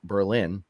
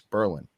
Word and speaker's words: Berlin: pronounce the name of it's not berlin like germany it's berlin merlin i'd like to thank